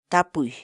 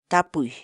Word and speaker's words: tapuy: de videos en la que te enseñamos a pronunciar algunas palabras en quechua Así que nuestra palabra del día por hoy es tapuy tapuy tapu la palabra quechua en español significa preguntar